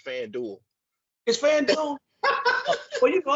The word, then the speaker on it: FanDuel: a sponsorship and be saying the name wrong it's FanDuel is fan well you